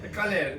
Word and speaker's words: colher: Colher (the pronunciation sounds very similar to a Spanish slang for sex ) So if I want ask for a spoon?